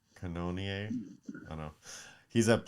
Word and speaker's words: Cannonier: name here no yeah it's like cannon but with an o and then ier cannonier i don't know he's